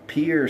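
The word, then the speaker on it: Pierre: I believe Pier South Dakota, which is the only one syllable state capital, I believe it's in the south the southern part of the state.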